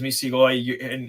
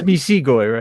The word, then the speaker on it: Misigoy: It is Misigoy, and the person who misread it the first time, you're not the first one to do it. But it's a hard G sound. As long as you do that, you're fine, whether you get the long or the short I sound.